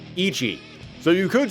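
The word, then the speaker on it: 一: He's blind and in Japanese one is pronounced Ichi.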